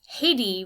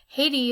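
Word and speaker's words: Haïti: i in this case haiti would be a perfect example of that except that in french haiti is pronounced as i d the h is silent as it is in many french words and the a and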